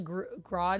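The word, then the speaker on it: Grodd: special about Gro right is it grod or Gro you guys are writing Gro and now I'm questioning am I saying it right am I making is it Grill gorilla Gro no grod grod yeah Ultra humanite the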